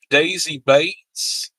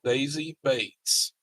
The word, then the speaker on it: Daisy Bates: If you like history, this how it sounds like it's spelled. Daisy Bates.